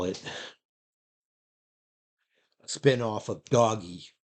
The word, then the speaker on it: Doge: it spin-off of doggy I don't call it Doge I'm pretty sure the originator is meant for it to be pronounced doggy because look look at the never mind look at the picture though it's a dog dog e it's some idiot like Elon Musk that changed it to Doge or because they like